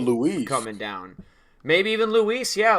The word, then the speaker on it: Luis: You said it's Louis. You said it's Lewis. Yes, it is. Like St. Louis. Yes. It's not though. You know he's Dominican, right? He doesn't say his name like that.